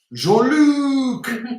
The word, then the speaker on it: Jean-Luc: Jean-Luc. Yeah. You pronounce the C.